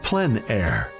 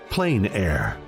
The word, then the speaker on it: plein air: open air or Outdoors the French pronounce it plen air others say plain air no matter how you say it there is a huge